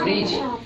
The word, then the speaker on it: bridge: देखो जी का उच्चारण हो रहा है जहाँ में, लेकिन डी का उच्चारण नहीं हो रहा है, ठीक है।